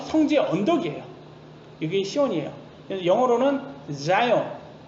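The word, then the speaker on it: Zion: 영어로는 자이언, Z 발음, 자이언.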